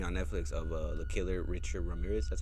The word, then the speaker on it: Richard Ramirez: They made a little documentary on Netflix of the killer Richard Ramirez.